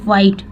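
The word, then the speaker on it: white: पे भी देखेंगे कि ये वाइट, ठीक है, एच यहाँ पे साइलेंट है। वाइट, हम बोल रहे हैं वाइट लेकिन लिखा भी है एच, तो हम ऐसे अगर पढ़ेंगे वाइट, लेकिन नहीं, ये वाइट, एच साइलेंट है यहाँ पे। वाइट कार, देखिए डब्ल्यू के बाद एच जब भी आता है अक्सर साइलेंट रहता है।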